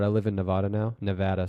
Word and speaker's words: Nevada: Nevada, sorry. You got to say it right. Otherwise, the locals will yell at you.